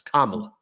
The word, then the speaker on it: Kamala: It's not that, like, he intentionally says the name incorrectly, and then he goes, I'm going to say her name incorrectly. It's Kamala. Just say the name correctly, right?